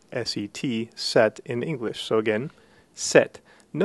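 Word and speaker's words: sept: in English so again set no notice that the p is not pronounced it's essentially a silent letter so again we get the sound set the pronunciation of the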